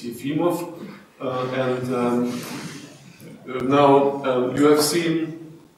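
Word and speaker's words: Efimov: body physics the soal yimo States the correct pronunciation is yimo not eim States it's yimo and now you have seen actually this picture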